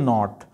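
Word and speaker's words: knot: इसे नप टीएल नहीं पढ़ेंगे, इट्स नपशल, शल पढ़ना है इसे, नपशल नॉट. इसमें के साइलेंट है.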